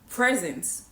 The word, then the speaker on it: present: So, you could be in the present moment. However, if you stress the second syllable and say present, it means something totally different, right? So it means to present something to make a presentation. Right?